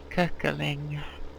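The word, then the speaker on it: Köckerling: The O with two dots is pronounced cuckling.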